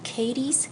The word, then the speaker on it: Cadiz: But most of us who are from here pronounce it Cadiz.